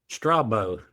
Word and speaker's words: Strabo: Strabo. Am I Thank you.